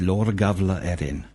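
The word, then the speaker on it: Lebor Gabála Érenn: with regards to the lebor gabala Erin the proper pronunciation is L Gava Erin that's really helpful Byron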